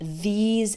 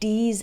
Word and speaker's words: these: When I hear someone pronounce these and those with a D sound, like D's and does, or pronounces think like sink, that's a giveaway.